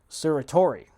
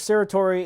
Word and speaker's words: certiorari: You have to petition the court for a writ of I may mispronounce this, but certiorari.